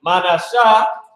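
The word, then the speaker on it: מנשה: So Manashah, which is the tribe of Manasseh, the name is made to forget. You said it's pronounced as Manashah, Mana. You gotta put a shah.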